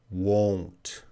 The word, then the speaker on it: won't: right so it's pronunciation watch how I'm making these sounds want want and the second one won't won't want I know you guys are that's the same sound it's not the same